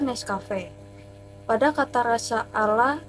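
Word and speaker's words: Nescafé: Pada kata Nescafe terdapat kata sca yang dibaca ska, sama seperti dalam pengucapan skala dibaca Nescafe.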